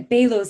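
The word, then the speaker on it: Baló's: your misdiagnosis of, is it, how do you pronounce this as well? Is it Balo's concentric sclerosis? I've never heard of that. Yeah, Balo's concentric sclerosis.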